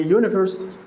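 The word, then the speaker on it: university: بس لو اتنطقت يو صريحه زي يونيفرستي، يونيفورم، اليو هنا يا شباب مش زي امبريلا، لا ده يو صريحه في الامتحان تاخد مش ان.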